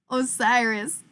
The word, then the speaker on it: Osiris: Think of Miley Cyrus. I'm crying into the foam. Okay. Osiris.